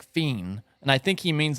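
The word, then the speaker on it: FE!N: called Fe it's pron it's spelled Fe i n which you would pron you would pronounce that feain I think but it's he says it like fiend and I think he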